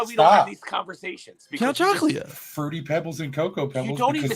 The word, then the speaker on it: Count Chocula: Count Chocula. Fruity Pebbles and Cocoa Pebbles you could eat the whole box in one bowl of Cocoa Pebbles. Right. He's not even saying it right. He's saying chocolate.